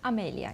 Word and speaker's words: Amelia: Amelia. You pronounce it Amelia.